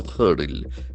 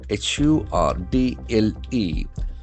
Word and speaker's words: hurdle: So there was a hurdle. H U R D L E. So that is another beautiful word. Hurdle. You can see that the middle R is silent.